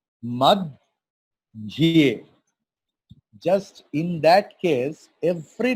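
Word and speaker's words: मध्ये: Madhye Mahabharatam. Suppose in Hindi हम लोग बोलते हैं मध्य और Sanskrit. So that see, dhya is conjunct consonant, dha and ya. How we are pronouncing? Mad, dhye.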